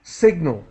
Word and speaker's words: signal: in different words but Sig the G is pronounced signal signal okay yeah well no but we have the word sign and so if you separate it there's sign and the g is not pronounced so signal the you need to learn a different pronunciation sorry I apologize okay